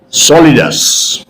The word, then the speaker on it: solidus: solidas is o l i d u s solidus the word is soliders this is a technical word okay now when uh you need to use the word slash instead of Slash you can use the word solidus and if you use the word solidus the